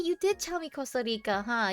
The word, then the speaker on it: Costa Rica: You did tell me Costa Rica, huh? You were making fun of the way I pronounce it. Costa Rica. There. I did the R.